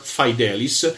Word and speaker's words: fidelis: noi latino fidelis ma loro pronuncio tranquillamente sempre fi dell iss ma questo è il